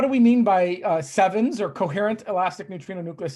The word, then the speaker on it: CEvNS: we mean by uh sevens or coherent elastic nutrio nucleus scattering we we pronounce it sevens it's entirely possible to pronounce it Kevin uh but uh we like sevens better um so uh so